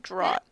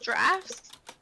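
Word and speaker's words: draught: I've been pronouncing it drao in my head yeah I think it's draft let's see draft what yep it's draft what ever living fck it's like the spelling of Colonel yeah I hate that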